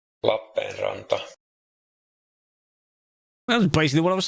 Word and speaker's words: Lappeenranta: La Penranta. E and A at the end. That's totally correct. All right. Lappeenranta.